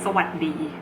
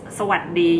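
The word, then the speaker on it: สวัสดี: Like for example, this Sawasdee, you're not supposed to say Sawasdee. The S is omitted because the final sound of the words are often omitted in Thai language.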